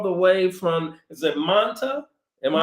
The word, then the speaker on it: Manta: Well, I'm so glad that you all were able to join us all the way from, is it Manta? Am I pronouncing? Manta, Ecuador, correct.